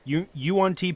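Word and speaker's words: Yuan-ti: fairy, to fucking I gotta make sure I pronounce it. Is it Yuan Ti? Yuan Ti Pureblood.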